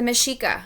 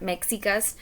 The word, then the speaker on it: Mexica: also known as the Machiko it's pronounced with an SH and not make caecus that is because of the way the language is spoken the Aztecs are gonna